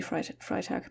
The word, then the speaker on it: Freitag: Or maybe her name is pronounced Freitag, I don't know. In German it would be Freitag because it is Friday.